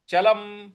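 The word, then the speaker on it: चलम्: तो मनोद निग्रह चलम चलम म के नीचे जो हलंत लगा हुआ है इसकी वजह से इसको हम चलम बोलेंगे चलम नहीं बोलेंगे चलम पूरा नहीं बोलना है चलम तो पूरी पंक्ति बन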